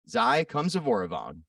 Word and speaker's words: Xay Khamsyvoravong: This week, we have Newport Mayor Xay Khamsyvoravong. Did I pronounce that right?